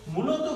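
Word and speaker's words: mai: দিই, একটা উদাহরণ দিই, যেমন ধরুন এম আ ই, এটার উচ্চারণটা কি হবে? এটার উচ্চারণটা আমার আগে দেখতে হবে, এখানে হচ্ছে আই মানে এ, আর সামনে বাদ রইল হলো ম, তাহলে কি হয়ে যাচ্ছে জিনিসটা? জিনিসটা হয়ে যাচ্ছে হচ্ছে মে।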